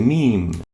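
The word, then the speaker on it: م: next letter is the meme that's how it looks meme and is equivalent to the english m and it's pronounced as as in immediate notice the meme has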